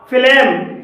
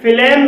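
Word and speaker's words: phlegm: फ्लेम, फ्लेम में जी के बाद एम आया है और यहाँ पर जी साइलेंट है।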